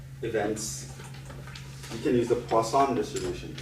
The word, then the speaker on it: Poisson: Not poisons, Poisson. It's French, pronounced Poisson. Poisson. Poisson. Poisson distribution, it's a French word.